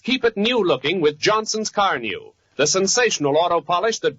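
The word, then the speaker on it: Carnu: For the sake of your car and for your own pleasure, buy a can of Johnson's Car New right away. It's spelled C-A-R-N-U.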